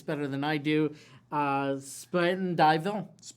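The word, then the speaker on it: Spuyten Duyvil: don't know you maybe you know how to pronounce this better than I do uh Spit and Dyville Spite and Dville Spite and Dyville uh Sputnville Creek and the Harlem River.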